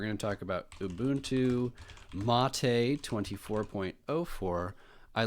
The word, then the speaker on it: MATE: They should have a way to pronounce it because everybody says mate. And it looks like mate, but it is mate, like the tea.